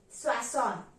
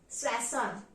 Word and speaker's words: soixante: how 60 is pronounced 60 is pronounced as swason sason so 61 will be